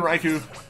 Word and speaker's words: Raikou: strike out some urban Raikou like getting out of it strike oh yeah definitely go though we're like raikou cuz it lines up with like the Japanese Way of pronouncing or pronounced like stuff gaming st.